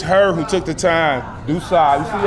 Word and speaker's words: DuSable: She said, "You are burning my ears. It's dooa." Da. Do not say Dabble anymore. Da, right?